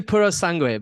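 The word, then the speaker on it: Purosangue: The Pura Sang, I think I'm saying it right, or I hope I'm saying it right. Apparently Puro Sangue, but I mean, good luck.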